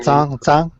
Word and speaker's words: Zhang: Is it Zhang? Is that correct? Am I pronouncing your name? Zhang. Yes. Zhang.